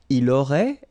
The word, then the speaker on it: aurait: Il aurait, elle aurait, final T not pronounced.